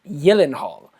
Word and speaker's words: Gyllenhaal: I think that's the correct pronunciation, Gyllenhaal, for people who don't know.